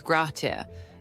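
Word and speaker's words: grazie: Next, we have graci which means thank you. The pronunciation is grat.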